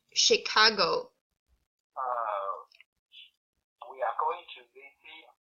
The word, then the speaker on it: Chicago: This is pronounced as Chicago. Say it, Chicago.